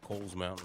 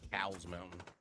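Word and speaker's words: Cowles Mountain: in San Diego called Kohl's Mountain or some people pronounce it cow's mountain but it's actually Kohl's and um if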